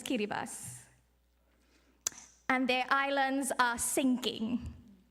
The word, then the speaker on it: Kiribati: You might see it spelled as Kiribati, but the proper pronunciation is Kiribati.